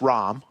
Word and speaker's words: Ram: the big blind now spelled Ram pronounced ROM we double checked I